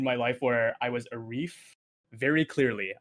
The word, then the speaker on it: Arief: life where i was a reef very clearly i was a wreath because when i went to school a lot of my uh teachers over here were american they couldn't pronounce rf i was on the